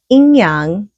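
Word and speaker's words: yin-yang: the inyang which is the ying-yang in um English but in Chinese you pronounce it inyang so in is the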